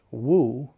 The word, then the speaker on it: Mu: said to the student Woo which in Chinese means not or no or nothing and in Japanese it's mu pronounced Mo so mu became